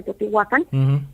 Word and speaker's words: Teotihuacán: Inclusive ahí en Teotihuacán, porque así se pronuncia Teotihuacán, es precisamente también una ciudad intraterrestre.